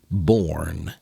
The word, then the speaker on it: born: Anya, you need to just focus on the word or. Or. This or that. Born has the same or sound. B or n. Born.